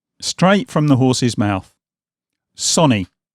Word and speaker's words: Sony: you have it straight from the horse's mouth Sonny not Sony not Sony Sonny and no I still don't